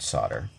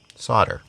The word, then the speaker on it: solder: to pronounce the word solder. You see, here in America, we say solder. And in other places in the world, they say solder.